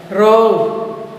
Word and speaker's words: wrong: Wrong, W is silent.